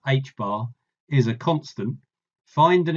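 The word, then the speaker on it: ħ: Assuming that for the electron, the product mvr equals nh bar, where n is an integer and h bar, pronounced h bar, is a constant, find an expression for the electron energy in terms of n.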